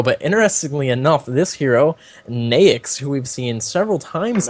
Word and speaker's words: Naix: But interestingly enough, this hero Naix, who we've seen several times now, what? I don't know why it's pronounced that way, but it is. And I just when you said Nix, that just bothered me.